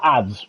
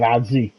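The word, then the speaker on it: adze: Apparently it's pronounced ads, which I guess, but I would have gone with adzy.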